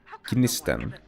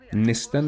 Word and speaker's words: Gnisten: So how the name is pronounced is Gnisten. It's a very small G, like Gnisten. You can also say Nisten. You can just take the G away completely, make it silent.